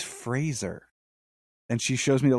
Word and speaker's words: Fraser: thing he was like my name is Brendan Fraser like Razer he's like it's always